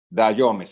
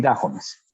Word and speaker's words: Dajomes: Mentor, entrenador de Neisy Dayomes. ¿Se pronuncia así? Neisy Dayomes. Dayomes, ok, ya, porque hay personas que sí, Dayomes, perfecto. Neisy Dayomes, nuestra primera medallista olímpica,